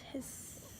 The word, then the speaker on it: His: Bundle of his is a bundle of nerve tissue found in the septum, pronounced his.